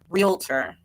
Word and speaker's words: realtor: uh next up the next category we have is best realtor realtor that's how you say it the first time we